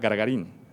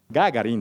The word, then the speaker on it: Gagarín: Gargarín. Gagarín, de hecho es el nombre.